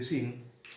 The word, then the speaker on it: Qin: Pongo aquí dinastía Qin, se escribe con Q, se lee realmente Xin, Y en el año